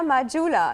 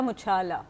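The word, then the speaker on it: Muchala: Just a little correction, it's मुचाला।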